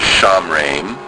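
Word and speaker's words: שמרם: Notice schwah vowel under the mem indicates a syllable stop. So the sound is sham, re, mem sophite, mem.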